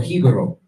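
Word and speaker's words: Jíbaro: Like, and what you're gonna see is that there's certain things like, for example, Hibaro, or Hibaro is the real pronunciation of it.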